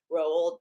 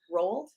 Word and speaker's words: Roald: coming up next here at the main stage rolled rolled yeah I just want to make sure we're